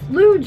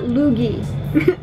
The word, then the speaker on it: Luge: Yes, Luge, like the Olympic sport, like Luge. Luge, not Loogie, not Loogie.